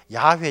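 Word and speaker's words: 야훼: 하나님은 특별했습니다 그래서 유대인들은 이 히브리 씩 발음으로 말한다면 하나님의 이름이 야외 주 야외 우리가 여호와 야외가 하나님의 이름입니다 그래서 유대인들은 이 야외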